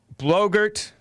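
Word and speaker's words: Boebert: the obama chest and blogert which rhymes with yogurt dark side of the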